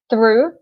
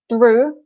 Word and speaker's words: through: pronunciation of this word through okay through so the G and the H at the end are silent we don't say them and of course in